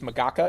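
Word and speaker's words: MGCA: make government cool again, which is magaka if you pronounce it out loud.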